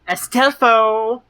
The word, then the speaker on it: Astolfo: Astelfo? Astelfo. Astolfo. The ass does flow.